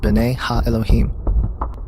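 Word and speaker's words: בני האלהים: of god mentioned here in the hebrew is pronounced binay ha elohim they are clearly describing fallen angels we know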